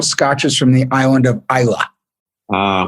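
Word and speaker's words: Islay: from the island of isla ah which many people pronounce eastlake but it's of course pronounced isla how many of each single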